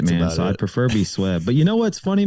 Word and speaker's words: SWebb: Swit? Sven? And so it's so frustrating. But yes, if people know how to say it, I'd prefer be SWebb.